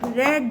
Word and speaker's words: read: You could have रेड the book but you couldn't. रीड की third form भी रीड होगी, READ, लेकिन यहाँ पे प्रोनाउंसिएशन रेड आ जाएगा।